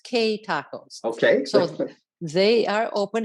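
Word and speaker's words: Que Tacos: new hope bowl and it's q-u-e tacos and i've been informed that that's pronounced k tacos okay so they are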